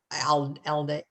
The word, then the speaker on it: Aldea: in Pennsylvania called Rosa told me how to pronounce this. Aldea.